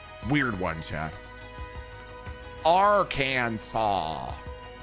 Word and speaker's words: Arkansas: Uh, some people from our Kansas actually really dislike people saying R Kansas and they want it pronounced Aransaw.